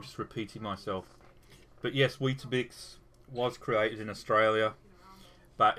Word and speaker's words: Weetabix: So is it pronounced Weet-Bix or Weetabix? Weetabix. Weetabix.